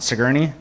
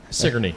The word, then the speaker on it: Sigourney: Sigourney? Sigourney, yep. Sigourney.